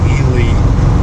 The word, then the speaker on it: Ely: We're near Ely, or they pronounce it Ely, Nevada. Just off of US 50, which is called the loneliest highway in America.